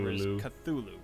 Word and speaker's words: Cthulhu: tongue so no answers Cthulhu is the most common pronunciation that is what I will continue to use you even see more